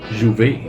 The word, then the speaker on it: J'ouvert: Somewhere along the way, the name Emancipation was withdrawn, but the celebrations continued under the title J'ouvert, shortened to J'ouvert and pronounced now as juve.